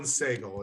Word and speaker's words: Segal: Alan Segal. It's S-E-G-A-L is how his last name is spelled. Segal. Okay, good.